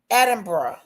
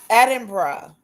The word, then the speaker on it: Edinburgh: Locals may also use the shorter two syllable version. Atra. Edinburgh.